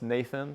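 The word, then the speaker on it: n8n: that's recently getting traction called NH N8 so I think they pronounced Nathan but um and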